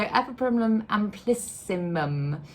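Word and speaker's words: Epipremnum amplissimum: fine and then the EPO premum amplissimum I think I said that wrong last time and I think I had some people saying that I wasn't saying it right so EP primum amplissimum very water it's variegated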